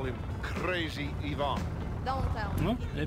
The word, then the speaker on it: Ivan: if you prefer um it's only because I have a friend called Evan that I pronounce it that way I'm sure it's supposed to be pronounced Ivan like Ivan the Terrible oh that's not the